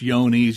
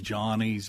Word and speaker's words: Johne's: is this disease yeah it it's yonies you'll hear it called J's johnes but uh it's named after